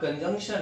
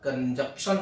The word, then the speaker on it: conjunction: तो ये भी कि ये भैया कंजक्शन नहीं बोलते, हमारे यहाँ बहुत सारे लोग इसे बोलते हैं कंजक्शन। स्पेलिंग को देखिए, CONJUNCTION, तो इसे बोलते हैं कंजंक्शन, ना कि कंजक्शन।